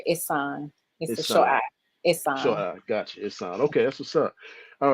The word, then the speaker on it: Ihsan: is doing now if am I pronouncing your name right Dr isan No it's Dr isan okay that's what's up